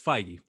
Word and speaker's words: Feige: is what is it, Fahey or whatever that guy? Kevin Feige. Everyone seems to get his name wrong, and I'm like, Sure, it's Feige.